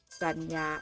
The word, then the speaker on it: จรรยา: นี้ อ่าน ว่า บรรดา บรรดา อ่าน ว่า บรรดา สะกด ว่า บ่อ อนุบาล อา ดา บันดาบ คำ นี้ อ่าน ว่า จรรยา จรรยา อ่าน ว่า จรรยา ฝัน หา อ่าน ว่า สรร